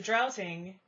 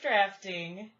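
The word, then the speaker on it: draughting: New Jersey the drowsing it's actually pronounced drafting so it's a drafting pencil yeah damnit damn me for trying to pronounce it the way it's spelled because it's DRA you ght ing I don't think it's trouts in but it is drafting it's a drafting pencil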